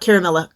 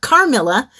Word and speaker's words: Carmilla: then I'll be reading caramilla no not caramella carmilla by a French order